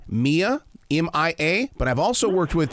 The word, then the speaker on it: Mia: My granddaughter pronounces her name Mia, M-I-A, but I've also worked with people.